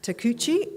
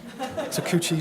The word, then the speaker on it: Takuchi: Afternoon, everyone, and thanks for getting the pronunciation right, Gabby. It's rare. Tamagotchi, Tankanenchi, Takuchi, spot on, which is a good start.